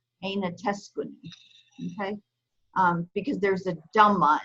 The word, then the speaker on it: أين تسكن: Technically, there's actually a dhamma that goes over this noon. It's typically not pronounced. If you're writing it fully voweled, you'd have to know that it's there. Okay, so there would be a dhamma. So if you read it completely voweled, totally voweled, which most people don't, it would be aina teskunu, aina teskunu, okay?